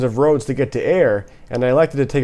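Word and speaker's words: Ayr: The nearest community which has restaurant options is Eyre, Ontario. Named after a town in Scotland, Eyre is spelled A-Y-R.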